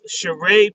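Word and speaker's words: Cheree: and then I actually have a wonderful shereé Gmail okay so let's stop for one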